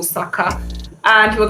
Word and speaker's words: Saka: all sorts of things Saka is Saka like huh bro it's two syllables it's not that hard get your pronunciation right